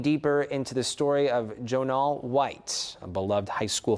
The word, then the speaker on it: Jon'al: Am I pronouncing that correctly? Jon'al. Jon'al.